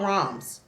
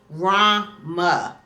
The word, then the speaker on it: ROMs: I just call it ROMs. That comes out my mouth better. Roms. Y'all see how that flow out? Rama. No. Roms. Just make that one syllable, honey.